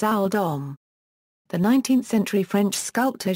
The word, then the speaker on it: Oldham: based on his surname, which would probably have been pronounced at the time as Owl Dom.